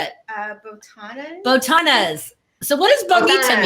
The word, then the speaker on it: botanas: Botanas.